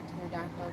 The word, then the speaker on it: pterodactyl: Why can't you hear a pterodactyl going to... Because the P is silent.